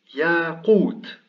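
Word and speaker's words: ياقوت: En initiale, c'est une consonne suivie d'un alef long et le waou ici est en médian. Il est précédé d'une dhamma et il porte un sukun. Donc là, c'est une voyelle longue. Donc ça se prononce yaqut.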